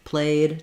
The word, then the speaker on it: played: So you notice here, I don't say moved or played. I don't have to add a syllable. It's just one syllable words, moved, played, just the d sound.